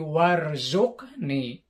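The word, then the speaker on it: وارزقني: Aslinya urzuqni. Ya, tapi karena ada wa di depannya jadi warzuqni.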